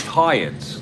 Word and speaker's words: Hyatt: five in our replay he is pronounced haatt like the hotel uh okay uh awesome thank you Joel uh I will work on that absolutely so Hyatt uh comes up to